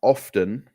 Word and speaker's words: often: drink it so um some native speakers pronounce often with a t but Oxford vocabra says